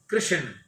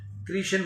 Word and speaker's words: कृष्ण: कितने ही लोग कृष्ण कृष्ण कहते हैं यह ठीक है परंतु व्याकरण प्रमाण में इसका उच्चारण कृष्ण होता है कृषण नहीं राम जी की राम